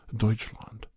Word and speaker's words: Deutschland: west Bavaria is a proud proud area of Deutschland that's how you say it in German Deutsche